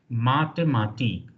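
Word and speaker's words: Mathematik: this one M MTI th is equalent to T because H coming after T silent in German so t h is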